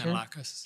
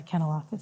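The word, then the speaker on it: Kanellakos: I asked Deputy Minister Stewart if he could reach into Steve, and I won't try to pronounce his last name. He was the city manager. Kanalakis. Yeah, Kanalakis, sorry.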